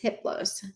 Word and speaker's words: Hiplus: a level four entity his name is hiplus the h is silent the other three are